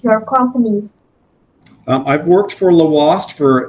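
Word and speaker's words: Lhoist: It's Belgium owned, so it's got kind of a different accent or a different pronunciation, right, than Yeah. normal Thank U.S. you for correcting us. Yeah, yeah. Normal English language, it would be Lawast, but it's Lawast with Oh. the pronunciation of the European.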